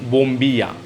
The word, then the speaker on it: bombilla: Straw को बोलते हैं ये बोम्बिया, BOMBILLA, बट इसका प्रोनाउंसिएशन होता है बोम्बिया।